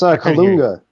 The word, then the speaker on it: Kalunga: How do you say it? It's Kalunga. Kalunga.